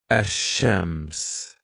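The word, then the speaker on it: الشمس: So lam here is silent letter, and the next sun letter is double vowel. We put shada. This word, it's pronounced ash-shams.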